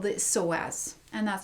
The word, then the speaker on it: psoas: there's really one important hip flexor called the psoas and that's spelled psoas and so i thought i could